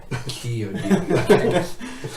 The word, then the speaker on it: Chiodini: phonetic pronunciation. Just so I was just like, Chiodini.